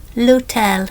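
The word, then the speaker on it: l'hôtel: Or lut lutel looks the same as English. We don't pronounce the h.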